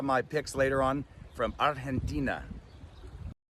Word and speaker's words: Argentina: I'll have my picks later on from Argentina. I like how he's pronouncing Argentina there. He's There's a really soft authentic. G. Yes, it's a soft G.